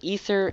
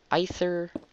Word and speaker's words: Aether: another acor planner acor if people have been using ether aether either i heard somebody say and there's a bunch of different pronunciations i prefer ether because i'm that's i don't i just prefer ether okay how much closer